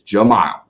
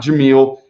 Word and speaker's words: Jahmile: or whatever it is jamal okay not jameel it is jamal okay so there you